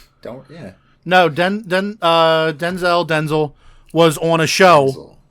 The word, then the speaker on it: Denzel: do you say it it's Denzel sounds like a tooth product apply some Denzel and